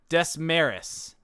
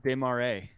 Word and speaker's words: Desmarais: We need to find someone who's from, let's pick a random city, Desmarais. I definitely did not say that right. Desmarais. Desmarais? Oh, that's pronounced Desmarais.